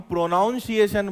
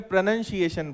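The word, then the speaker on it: pronunciation: हमारी इंग्लिश का उच्चारण, जिसको इंग्लिश में हम प्रोनाउंसिएशन बोलते हैं, उसको भी एक्चुअल में प्रोनंसिएशन बोलते हैं. उच्चारण को इंग्लिश में क्या बोलते हैं? प्रोनंसिएशन. और हम क्या बोलते हैं? प्रोनाउंसिएशन.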